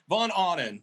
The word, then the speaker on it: Von Ahnen: von anden is that how you say it vaughn awning actually that's how everybody pronounces it so maybe i'm wrong well no